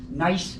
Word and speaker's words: gneiss: Gneiss is a type of rock, G-N-E-I-S-S. It's actually pronounced gneiss.